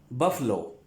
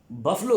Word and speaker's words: buffalo: उसके बाद हमारे पास है फिर लफ्ज बफलो। बफलो, ठीक है। बफलो कहते हैं, कुछ लोग इसे बफेलो भी कहते हैं, बफेलो, लेकिन ये असल में इसकी जो प्रोनाउंसिएशन है वो है बफलो।